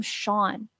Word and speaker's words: Sean: And the name Sean. But when it's spelled S-E-A-N, the letters do not match the sound.